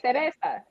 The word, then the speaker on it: Cereza: Cereza.